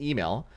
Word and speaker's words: Emil: When Eastern European criminals Oleg and Emil come to New York City to pick up their share of a heist score. Emil, like EMIL. Oh, Emil? Is that how it's pronounced? Not Emil? It's like email.